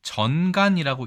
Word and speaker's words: 癲癇: 자, 일단 이 글자는 전간이라고 읽습니다.